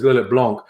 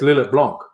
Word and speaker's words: Lillet Blanc: Yes, with French, if you say a word that ends in a T, you don't pronounce it. You'd say Lillet. But if it's two-pronged and the second part starts with a consonant, you pronounce the previous consonant.